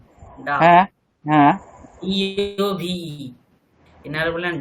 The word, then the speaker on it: Dove: DOVE, ডাব shampoo বলি না, ডাব।